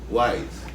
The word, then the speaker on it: YZE: Wise. Not YZE. Right. Or YZE. Or whatever it is. YISE. No. Tell them It's what it wise. Wise. If you pronounce it, you would get wise. And if you sound it out. But in the know, Yeah, if you sound it out, it's actually wise and YZE.